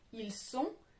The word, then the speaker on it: ils sont: Attention à ne pas confondre ils sont et ils ont. L'un, on va le prononcer avec un S, le deuxième avec un Z. C'est différent et on peut mal vous comprendre.